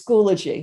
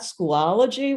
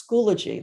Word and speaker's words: Schoology: So it is Schoology. So it's not Schoology, where I've heard it said that way. It's Schoology, like biology, Schoology.